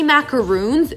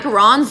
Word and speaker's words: macarons: love but especially baking macarons is my specialty and if you say macaroons no you're wrong macaroons are the coconut cookie i'm talking about macarons the french sandwich cookie so if you say